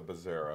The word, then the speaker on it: Bezzera: And that's a Bezzera. Bezzera, yep. And that's how it's spelled.